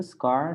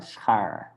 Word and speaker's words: schaar: Yeah, almost, Matthew. Scar, schaar.